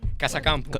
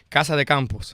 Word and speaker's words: Casa de Campo: I was in Casa Campo. Yes. How you say it? Casa de Campos.